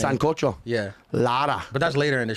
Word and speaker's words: Lara: No Laura. Lara with just an A. Yeah. Dominican name. Yeah, it's actually Lara, but I won't make you roll your R.